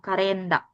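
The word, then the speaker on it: カレンダー: Hai isu suku karenda gomibako sasing kabing kokubang kokubang kehi ini yang kalender itu panjang karenda karenda a-nya panjang oh karenda oke nice.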